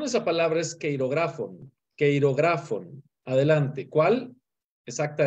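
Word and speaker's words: χειρόγραφον: Te ayudo con la pronunciación. Esa palabra es queirografon.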